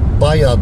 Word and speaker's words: Baja: Baja okunuyor değil mi? Evet. Jale'nin J'si olduğuna göre Baja okunuyordur. Macarlar Baya diyorlar. Ama biz biliyorsunuz yazıldığı gibi okuyoruz. Okuduğumuz gibi de yazıyoruz. Onun için Baja'dır.